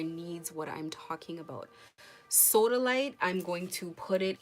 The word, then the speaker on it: sodalite: can go get it it's literally spelled like soda s a s o d a and light l i t e soda light that's it um l i te